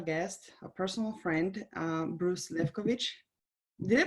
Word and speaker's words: Lefkowitz: It's Sara Spiker here, and today I have a special guest, a personal friend, Bruce Lefkowitz. Did I pronounce it strong or did I butcher your last name? Close enough. Lefkowitz.